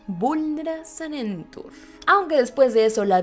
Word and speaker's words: Vulnera Sanentur: de inmediato el contramaleficio Vulnera Sanentur, con pronunciación como si fuera una canción. Vulnera Sanentur.